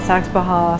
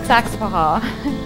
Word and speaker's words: Saxapahaw: to pronounce the name a lot of people call it saks baja some people call it saks baja some people don't hear the difference between those two saks paha you uh drop the middle a and emphasize the first sex this village has